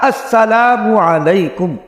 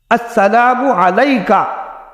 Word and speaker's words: السلام علیکم: صحیح ادا ہونا چاہیے۔ صحیح تلفظ کیا؟ السلام علیکم۔ اب دیکھو، یعنی ہمیں جو حکم دیا گیا، روایات میں جو الفاظ آتے ہیں السلام علیکم ہے۔ اگر کوئی سلام علیکہ، السلام علیکہ کہہ دیتا ہے، جواب تو تب